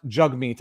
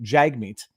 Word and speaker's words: Jagmeet: singh and his name his name is pronounced jug meat i have been pronouncing it improperly jag meat it is jug meat